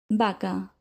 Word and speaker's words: vaca: Remember that in Spanish, both the B and the V are pronounced with the B sound. The examples are vaca, velo, vino, voces, vuelta.